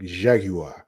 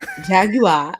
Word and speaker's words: Jaguar: You gotta say it like the British people, like Jaguar. Jaguar.